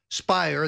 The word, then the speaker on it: Speier: Schiff and congresswoman Jackie Speier spire that Lert that rhymes with liar claimed alternatively that that